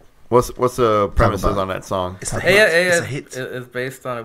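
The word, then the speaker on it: Ella: It's Aya. Spanish for her.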